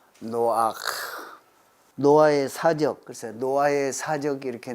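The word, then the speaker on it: נֹחַ: 존재할 그런 이름이다 노아 이렇게 발음해 왔는데 히브리어는 노아크 노아의 사적 노아의 사적이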